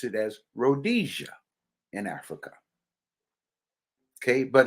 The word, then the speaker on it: Rhodesia: called named Rhodes Asia and of course we pronounce it as Rhodesia in Africa okay but it's all about Manifest